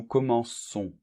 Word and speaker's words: commençons: on voit qu'il apparaît une c'est dit nous commençons bien c'est normal parce que sinon on prononce rennes ou comment con ça n'irait pas